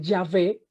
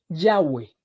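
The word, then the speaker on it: Yahweh: litera otras con ejemplo la mayoría de las biblias católicas dice ya ve y otros dicen que muy seguramente la más acertada era yagüe ya ve esa fue posiblemente la forma más acertada de pronunciar este nombre de dios ok eso es un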